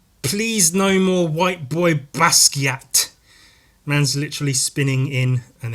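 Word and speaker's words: Basquiat: young white fellas trying to be the next basat I always thought it was pronounced basa and I prefer that pronunciation but it it's not it's pronounced basat that's how he pronounced it so I mean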